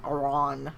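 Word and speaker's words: Iron: listening to cycle over one Iran Iran that's how you say it by Edward Robertson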